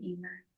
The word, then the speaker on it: Eimear: So yes, I'm very proud to have the name Emer.